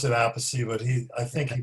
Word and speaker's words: Appice: guy I met before named Carmine Appice or Appice. I pronounce it Appice, but I think he pronounces it Appice.